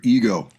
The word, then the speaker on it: Ego: And today we're going to take a look at The Warning's brand new music video for Ego. Ego is pronounced ego in Spanish.